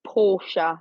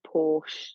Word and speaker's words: Portia: I think that is Porsche, not Porsche, like the car.